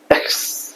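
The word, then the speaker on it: X: পরের লেটারটা হচ্ছে আমরা বলি এক্স, এটা হবে আ খা সা, এক্স, আ খা সা, এক্স, আ খা সা, এক্স।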